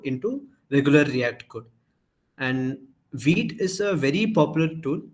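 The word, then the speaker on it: Vite: Okay, we will start with first like going through another tool called Veet. This is the spelling. It's a French word, so pronounce it however you want.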